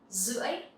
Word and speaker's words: rưỡi: In Vietnamese, you can say rưỡi, rưỡi. Here, the R sound, you will pronounce like Z sound. It's okay. You can actually say R, but it's not really necessary, especially I'm from the north.